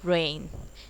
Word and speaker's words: reign: जी, अब इसमें देखिए रेन, REIN, यानी कि जी वर्ड हमने सिर्फ और सिर्फ साइलेंट रखा है REIGN में. ओके, तो प्रोनाउंस कैसे करेंगे, रेन, यानी कि शासन काल.